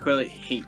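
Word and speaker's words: haint: Uh you would know that the wayward haunts are a they a is hate. It is spelled h a i n t.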